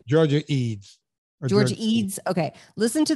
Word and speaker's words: Ede: Listen to the Georgia, is it Georgia Ede or Georgia Edie? I never know how to say her name. Georgia Eads.